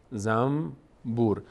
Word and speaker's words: زنبور: در فارسی هم داریم مثلاً کلمه زنبور زنبور ما در فارسی کسی نمیگه زنبور زنبور میگیم زنبور زم بور به جای نون میم تلفظ می‌کنیم این تعبیر ما در